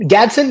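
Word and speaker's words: Gadsden: Honestly, right here though, there's a pick that I like much better, and that's Oronde Godson. Is that how you Gatson. Yeah. pronounce his name? Gadson?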